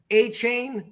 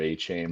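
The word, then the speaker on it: Achane: chin last week um it's like 4chan with an a for Zach Moss hn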